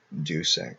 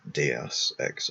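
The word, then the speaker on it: Deus Ex: favoritism towards it aside Dux or de X I guess is more correct Latin pronunciation is the best video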